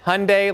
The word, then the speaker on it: Hyundai: Hyundai like Sunday.